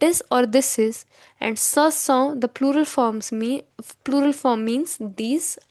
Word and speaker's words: ce sont: So these are is pronounced as ce sont.